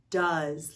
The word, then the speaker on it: does: it's supposed to say the o e vowel team says ah like the letter u and the s makes the z sound like so many other